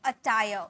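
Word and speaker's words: attire: वस्त्र, अटायर, अटायर, ठीक है, र का साउंड आधा में, अटायर, वस्त्र, अटायर। बातूनी, गैरलस, गैरलस, बातूनी मीन्स गैरलस।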